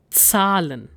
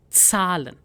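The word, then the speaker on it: Zahlen: So numbers are called salon. Salon. So here you need to make sure that there is slight t sound ts sound in it. So it's salon.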